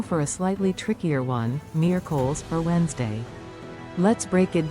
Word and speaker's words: miércoles: Miércoles, Wednesday. Now for a slightly trickier one, miércoles, or Wednesday. Let's break it down. The stress is on the first syllable, miércoles.